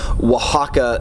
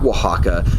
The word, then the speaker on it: Oaxaca: that Oh ay X is pronounced as a wah in in Spanish so